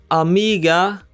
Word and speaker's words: amiga: The word amiga also ends with a vowel, so we stress the second to last syllable. Amiga, we stress the mi part.